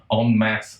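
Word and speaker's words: en masse: m aou s e I'm pretty sure if you were saying it you would pronounce it on mass it just means a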